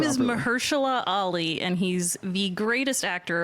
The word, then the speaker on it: Mahershala Ali: First off, how do you pronounce his name? His name is properly? Mahershala Ali, and he's the greatest actor of our generation.